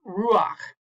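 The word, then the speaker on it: רוח: single line, the combination, you actually pronounce, this is about the only time in Hebrew you pronounce the vowel before the consonant, not the other way around. Some linguists call this a furtive patak. So this here's a really common word, the word for spirit in Hebrew or wind is ruach.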